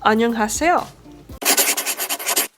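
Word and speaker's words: 안녕하세요: twice in english so the first letter is silent you don't actually pronounce it in ano it's this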